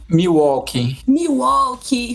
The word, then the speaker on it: Milwaukee: Finalmente descobri como é que é a pronúncia dele. Sabe por quê? Porque tem um time da NBA chamado Milwaukee Bucks, inclusive é o atual campeão da NBA, e eu só consigo falar por causa disso.